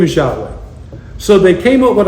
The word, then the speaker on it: Yahweh: His name is Yahweh.